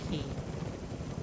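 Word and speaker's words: quay: I believe we're going to hit the key with this group that joined after that. And yes, for those that don't know, Q U A Y is pronounced key.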